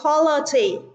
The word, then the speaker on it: quality: À, bởi vì quality trọng âm rơi vào âm tiết đầu tiên, còn ba từ còn lại trọng âm rơi vào âm tiết thứ hai.